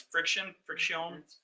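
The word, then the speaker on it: Frixion: I always say it funny. It's friction. I know, but they spell it weird.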